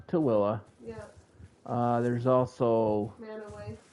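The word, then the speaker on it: Tooele: So, it looks like Tul and we call it Tilla. Tilla. Yeah. Uh there's also Manoway. Manowway. Or the town that is spelled Hurricane, but we pronounce it Hurricane.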